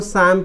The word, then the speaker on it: psalm: ये P भी silent होता है और L भी, इसको शाम पढ़ते हैं, शाम, शाम, शाम, शाम पढ़ते हैं।